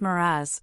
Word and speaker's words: mirage: "Mirage is pronounced Miraz," said Valency shortly, picking up her tea and her beans.